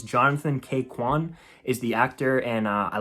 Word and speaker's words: Ke Huy Quan: And I don't want to mispronounce his name, but I believe it's Jonathan K. Quan is the actor, and I loved him.